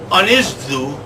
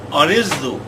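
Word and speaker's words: Ynysddu: Swalek Division 4, East Side, Unizdu, that's how you say it What? over there, Unizdu, RFC from Carefully, beat their Blenheim Gwent rivals, Blaina, by the astonishing scoreline of 134 to zip.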